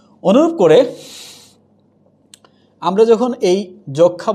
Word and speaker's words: যক্ষ্মা: ওরকম করে এটা কি সূক্ষ্ম বলবো, আমরা কি যক্ষ্মা বলবো না, হয়ে যাচ্ছে যক্ষা, হয়ে যাচ্ছে কি সূক্ষ্ম, এখানে কি আছে, দন্তস্ব